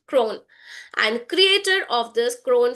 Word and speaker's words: CRWN: She is the founder and chief learning officer of CRWN Institute, pronounced Crone, and creator of the Crone frameworks.